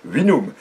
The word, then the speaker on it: vinum: Bon, le latin, c'est comme ça qu'on prononce, c'est un vinum.